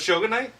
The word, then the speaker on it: Shogunate: I show that yeah so it's show goodnight and it's you know